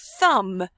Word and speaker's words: thumb: So, I might choose the word thumb because I forgot the silent B.